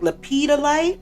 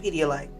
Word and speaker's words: lepidolite: Is it like lepidolite? My best friend said pedialite stone. So, now I keep saying pedialite stone. Like lepidolite, I think it's called. It's not called pedialite.